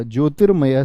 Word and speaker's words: ज्योतिर्मय: मैंने क्या सिखाया आपको रेफ रूप का प्रयोग जिस व्यंजन पर है उससे पहले उसका उच्चारण होगा यानी इसकी ध्वनि कहां